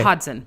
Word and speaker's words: Hodgson: Pretend there's no G. Okay. Hodson.